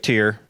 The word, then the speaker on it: Tyr: Am I pronouncing that right? Tyr?